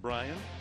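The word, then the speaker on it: Brayan: Brian Pena, it's pronounced Brian, and Bruce Chen on the mound, the veteran right-hander.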